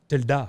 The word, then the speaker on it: Tilda: It's actually pronounced Tilda. Tilda.